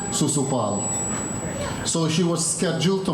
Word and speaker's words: Shishupal: She was scheduled to marry Shishupal or Sisupal or Susupal. There are many ways to pronounce that one. We say Susupal.